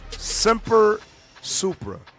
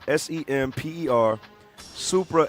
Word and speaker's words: Semper Supra: it up too, there's a motto that's called Semper Supra. So you could spell it it's spelled S-E-M-P-E-R, Supra, S-U-P-R-A.